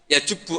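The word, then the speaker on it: يجبّ: alislamu yajubbu Ma qoblah itu bacanya bukan yajibu tapi apa yajubbu a yaqt lah kalau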